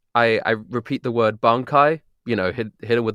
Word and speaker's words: bankai: But the the chorus of it, I I repeat the word bankai, you know, hit hidden with the bankai, but I pronounce the word wrong. I pronounce it bankanaie, which is not how it's pronounced.